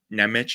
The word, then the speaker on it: Nemec: Like, if you don't want Nemec, I'm gonna keep saying his name wrong, so just whatever.